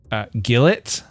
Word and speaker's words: gilet: I love the tweed gilet. It's actually pronounced gillet.